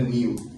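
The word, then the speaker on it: Neil: Вот сейчас кто-то это имя неправильно читает, это мужское имя, читается именно Нил. Там и I дает звук И. Как, например, в глаголе receive, получать что-либо, да? Receive, там после буквы C то же самое, и I.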